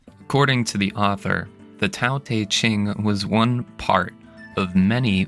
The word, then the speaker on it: Tao Te Ching: Tao Te Ching is actually pronounced more similarly to Tao Te Ching and means classics of Tao and De.